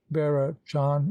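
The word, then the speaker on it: Bearachán: vera john is the modern pronunciation of the older bird the story barrett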